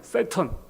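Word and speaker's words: Satan: 영어로는 그렇게 발음해요. 세턴.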